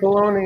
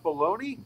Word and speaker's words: Bologna: Bologna? Bologna. Hey, wait a minute. Bologna. They have your taco sauce there. That's the question. Bologna rhymes with bologna.